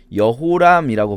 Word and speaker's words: 여호람: 그리고 그다음에 아하시아가 아들이 없이 죽는 바람에 둘째 아들인 요람.이 이도 마찬가지로 요람이라고 발음할 수도 있지만 여호람이라고 발음할 수도 있어요. 자, 우리는 지금 요람이라고 읽고 있습니다.